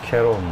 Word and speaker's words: Cerrone: kanalın ilk maçı olan donos şeron diye okunuyor evde damlatma yaptığı maça